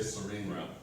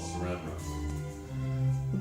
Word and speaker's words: saran wrap: You say serene wrap. It's called saran wrap.